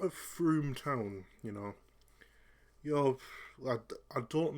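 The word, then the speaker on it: Frome: That's actually pronounced Froome.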